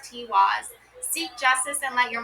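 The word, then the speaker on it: Tiwaz: Tiwis pronounced Tiwis.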